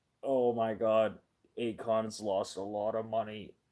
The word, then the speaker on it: AECON: Akon, their stocks are super low, but they could be super worth it.